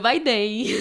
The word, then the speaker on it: Biden: Assim não, é o Joe Biden. É, Joe Biden, né? Que eles pronunciam esse N forte no final, né? Bem característico do francês.